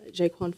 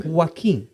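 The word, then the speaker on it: Joaquin: of great actors, your work on Napoleon with Jaquan Phoenix, who I'm a massive fan of. Jaquan. Sorry. Can we just How do I say it? Am I saying it wrong? Wim.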